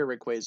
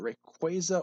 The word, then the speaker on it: Rayquaza: Mega Rayquaza is pretty cool, though. Is it Rayquaza or Rayquaza? I've heard it pronounced both different ways. I think officially it's Rayquaza, but a lot of people call it Rayquaza.